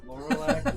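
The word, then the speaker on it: Llorlak: most um pronounceable names try laurac Weeble Noble what it l l o r l a k then Weeble like Weebles wobble but they don't fall down and and mobile uh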